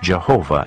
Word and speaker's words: Jehovah: An outstanding feature of these ancient texts is the frequent use of the divine name, the Tetragrammaton, pronounced Jehovah in English.